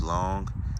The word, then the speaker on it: Longue: that although its name is is long it's pronounced long uh they say it's actually a half long